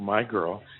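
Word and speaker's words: My Grl: follow John through through my girl and by the way my girl girl is spelled GRL and that's the name of the boat you know how you throw out all the vowels name a vote he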